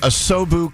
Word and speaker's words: Asobu: So the Asobu cold brew, which looks fabulous.